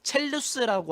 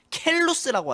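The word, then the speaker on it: Chelus: 뭐 이거는 영어권에 따라서도 뭐 첼루스라고 하던가 켈루스라고 하던가 아니면 첼리스라고 하던가 켈리스라고 하던가 이거는 이제 발음면 이제 각각 다른데 저희는 그냥 첼루스 첼리스라고 하겠습니다.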